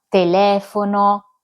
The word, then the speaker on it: telefono: Il terzo gruppo è formato dalle parole srucciole quando l'accento cade sulla terzultima sillaba. Telefono, ciotola, pirofila, bisrucciole quando l'accento cade sulla quartultima sillaba della parola.